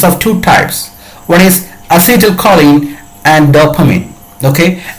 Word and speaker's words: acetylcholine: depression neurotransmitter is of two types when is acetylcholine and dopamine okay acetyl choline and dopamine are the examples of neurotransmitters it is pronounced as acetylcholine okay as hidden calling or